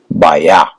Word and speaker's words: bio: Prefix. bio, sometimes pronounced as bio, other times as baya.